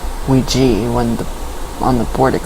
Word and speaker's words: Ouija: Ryan, why do people say Ouija when on the board it clearly says Ouija? In Germany it's pronounced Ouija. W-E-E-G-E-E. That's the German. So you can either pronounce it Ouija or Ouija.